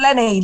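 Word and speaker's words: Lenie: if it says l-e-n-i-e is that Lanai or hello hello hello who's this well how do you say your name hi I'm Lenny Lenny from UK hi oh it is Lenny okay all right it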